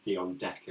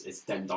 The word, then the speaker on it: Dendoncker: It's not the first time I've heard you use that pronunciation of Dion Decker. It's Dendoncker.